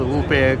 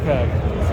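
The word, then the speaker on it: Ampeg: How do you say it? UPEG or OPEG? OPEG. OPEG. You want OPEG? Oh, PEG. Yeah, from England, someone called UPEG. UPEG, But yeah.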